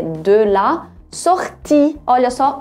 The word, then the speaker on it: sortie: L'heure de la, não é de, é de la sortie. Olha só, o E no final é mudo, pronuncia o I bem forte.